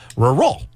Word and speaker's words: rural: All right, so she brought in something phonetically for me to say, and it's spelled R-U-R and then a space R-A-L. So rural.